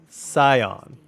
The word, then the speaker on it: Scion: upon me okay so Scion like psychic okay appreciate the pronunciation